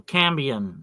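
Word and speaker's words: cambion: The cambian this is called that's spelled C A M B I O N.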